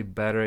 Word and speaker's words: better: what what better um when you say better in American version it sounds like the better better better better way of